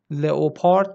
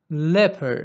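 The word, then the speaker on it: leopard: لپر لپر پلنگ لپر دقت کنید تلفظش رو لئوپارد نیست نیست نیست لپر لپر لپر لپر داک میشه اردک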